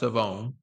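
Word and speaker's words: Shavon: It's pronounced Savone.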